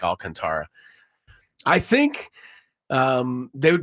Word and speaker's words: Alcantara: I think it's Alcantra, although it gets confusing to me because it's spelled like Alcantara.